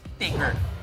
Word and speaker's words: Tigger: Tiger siya, pero ang pangalan niya talaga ay Tigger. Ah, Tigger. Tigger talaga ang pagkakapronounce sa kanyang pangalan.